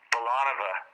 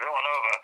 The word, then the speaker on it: Villanova: team from Villanova, and he pronounced it Villanova. Oops. Like it was a ballet dancer. We had to have the phone from him and try to that's Villanova.